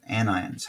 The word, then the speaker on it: anion: has gained electrons and no that's not onion that's supposed to be n ion anions how i pronounce it cations and ions